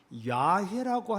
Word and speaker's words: 야훼: 어떤 분은 여호와라는 이런 표현보다 야훼라고 하는 것이 훨씬 더 원문에 가깝다.